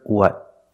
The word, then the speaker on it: what: the first word what the vowel in what is a short sound like cup up uh uh together what what and we don't remove